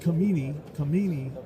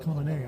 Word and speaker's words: Khamenei: It looks like Khamenei, but it's actually pronounced Khamenei, I've found.